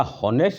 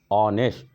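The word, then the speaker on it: honest: लेकिन यहाँ ऑनेस्ट मैन है, तो हम इसको क्या हॉनेस्ट नहीं पढ़ते हैं, पढ़ते हैं ऑनेस्ट।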